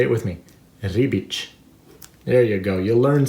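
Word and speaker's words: Ribić: you say his name you see the accent on the c say it with me rebic there you go you'll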